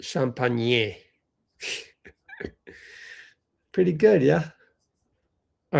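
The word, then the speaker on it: Champagnie: Although it's pronounced Champagne.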